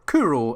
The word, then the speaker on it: Kuro: Then the second and third involve the new character Chloe, or Kuro as the shortened nickname version is pronounced in Japanese, and how the heck she actually exists.